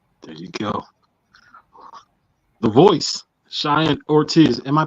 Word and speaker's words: Cheyenne: Dugout for ecwa there you go the voice Cheyenne Ortiz am I pronouncing your first name right that's it Cheyenne that's it okay man Chey orz what is